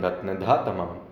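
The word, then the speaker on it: रत्नधातमम्: इसका उच्चारण हमने कहा, उसने कहा कि उच्चारण होगा हवतारं रत्नधातमम, हवतारं रत्नधातमम।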